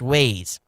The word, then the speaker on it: Waze: app's name the wa's name is spelled is pronounced waze it's it's w-a-z-e it's waz you know i